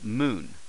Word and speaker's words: む: book uh let's start off first here's the pronunciation in ragi M uh Moon moo as in moo cal um Moon moo